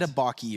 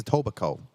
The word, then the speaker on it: Etobicoke: I think it's the K is silent. Like Edabaki or something, isn't it?